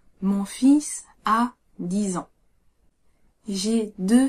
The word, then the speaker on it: fils: Quand il s'agit d'enfant au singulier comme au pluriel, le L se prononce pas mais le S se prononce. Mon fils a 10 ans. J'ai deux fils.